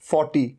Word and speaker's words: forty: अच्छा र के साउंड को तो आप लगभग भूल ही जाइए, इसे तो भूल ही जाइए आप। 40 और 14 र तो साइलेंट ही है।